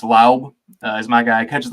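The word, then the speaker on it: Laube: Pronounced Laub is my guy.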